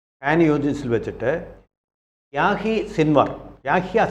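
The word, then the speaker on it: Yahya: യൂജിൻസിൽ വെച്ചിട്ട് യാഹി Sinwar യാഹിയ Sinwar എന്നാണ് ശരിക്കുള്ള പേര് യാഹിയ എന്നാണ് ഉച്ചാരണം യാഹിയ സിൻവർ എന്നന് പറയുന്ന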